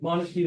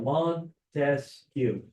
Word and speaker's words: Montesquieu: So Montesquieu, right? So Montesquieu, 3 syllables here, 3-branch system.